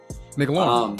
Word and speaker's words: McLaurin: McLaurin.